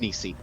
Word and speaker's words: Nisti: Here's my Nisti number, or Nisi, is it pronounced? Nisi.